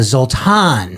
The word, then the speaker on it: Zoltan: met another zultan and you said it was a zultan yeah so um Hungarian I think the Hungarian pronunciation yeah would be um zultan you don't have the accent zultan I do not